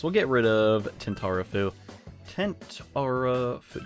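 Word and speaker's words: Tentarafoo: Tentarafu... Yeah, that's how you say it. Gotta remember, it's like a tent that you go camping with.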